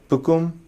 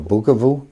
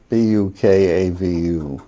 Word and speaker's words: Bukavu: okay and then bakum I'm sorry bukum oh bukavu bukavu pronunciations aren't matching up oh b u KU u v b u k a v u a a v u